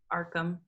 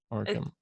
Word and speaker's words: Arkham: Arkham. Arkham. Okay. It's kind of like Batman without the H.